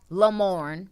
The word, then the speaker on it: Lamorne: make sure to follow him on insta at lamorne that's it you got that one one names